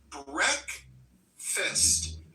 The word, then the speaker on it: breakfast: There are two syllables, stress on that first syllable, and those vowels can be tricky because we don't pronounce it as it appears. We say it as breakfast.